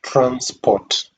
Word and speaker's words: transport: For example, a word like transport, transport, transport. When you underline the first syllable, trans, you read it with a rising intonation, trans. Then the unstressed part, port, is read with the falling intonation.